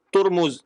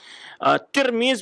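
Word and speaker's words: ترمذ: Ada pula yang membacakan dan dhammah, ya, baris di depan, turmuz, ya. Wa kull wahid yaqulu ma'nan lima yada'i. Masing-masing mengartikan sesuai dengan apa yang dibacanya. Kemudian Az-Zahabi menjelaskan yang di Tarqiyatul Hufaz, menjelaskan qala Syekhuna Ibnu Daqiq al-Aid, kata beliau, Az-Zahabi menyebutkan, syekhnya guru beliau Ibnu Daqiq al-Aid menyatakan tirmiz bi kasri huwal mustafid alal alsinah.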